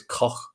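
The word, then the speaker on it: Koch: it i've heard it apparently it's pronounced in sort of a bit of a scouse accent how you put how the germans pronounce it so it's coch yeah so i don't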